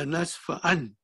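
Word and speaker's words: لنسفعا: This will also be pronounced like that. Nasfa an. Nasfa an. This noon turned into alif. The pronunciation will be remain same.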